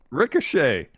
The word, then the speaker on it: Ricochet: Ricochet. Oh, Ricochet. Yeah. I'm looking at it phonetically. That's how I read. It's confront Ricochet. Thought it was like a dude named Chet.